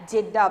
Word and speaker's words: Jeddah: Jeddah. Pronounce it. Write the spelling here. Jeddah. G-J-E-D-D-A-H. Jeddah.